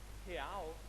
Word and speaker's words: real: See, in Portuguese, the way that you say real is real. So let me teach you how to say it. So on the count of three, let's say he. So it's he, but without the e sound.